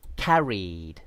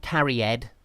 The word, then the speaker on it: carried: Similarly, carried, not carried or carried.